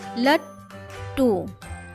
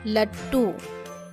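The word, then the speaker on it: लट्टू: लट टू, पहला ट का उच्चारण धीरे हो रहा है, थोड़ा ही हो रहा है। दूसरा ट का उच्चारण पूरा किया जाता है, लट टू लट टू।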